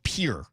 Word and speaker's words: Pierre: It's Pier, not Pierre. Like for my whole life, you have to learn capitals, right? I always thought it was Pierre. It's Pier. Yeah, it's here. Yeah. So, kind of one syllable.